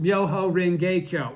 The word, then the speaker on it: Myoho Renge Kyo: The teaching, right, pronounced Myoho Renge Kyo. That's Japanese. Tentai never heard that.